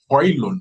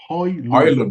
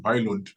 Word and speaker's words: Højlund: Rasmus Højlund, so that the pronunciation of his name is Højlund, according to him. Højlund, but I don't think he minds if we call him Højlund.